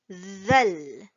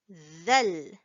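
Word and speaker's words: ذال: And next here we have the letter zal. Zal. Now, if you noticed, I put a th in front, similar to the pronunciation for tha.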